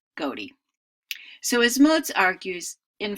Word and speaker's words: ghoti: So GHOTI really would not be pronounced fish, but rather goatee.